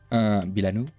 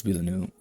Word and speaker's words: Villeneuve: Villeneuve, yeah, I think it's pronounced like that.